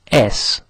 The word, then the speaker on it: es: Now the word for it's is es, spelt es.